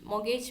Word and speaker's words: mortgage: Mortgage means loan. R is silent.